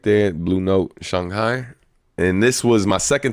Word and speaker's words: Shanghai: Um also learned that I was saying it wrong the whole time. It's Shanghai. Um not Shanghai, but um yeah, man.